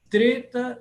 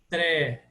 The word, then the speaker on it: Treta: uma das eras cósmicas treta yuga não é tré É Treta treta yuga Deva divindade